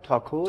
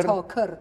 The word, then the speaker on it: تاکور: گفتین چه روستایی تا تاکور تاکور تاکور ک تاکور تاکور البته این تلفظ فارسی شه وگرنه در مازندرانی ما صدای او نداریم یا عموما او میگن یا ا میگن اونجام میگن تاکر تاکر تاکر یه جمله میتونین به